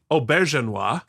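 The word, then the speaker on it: Auberjonois: here uh yeah yeah renee oberginois i looked it up that's the most homework i've done this entire so i wasn't wrong i just put the wrong and fastest on the wrong syllable you were way closer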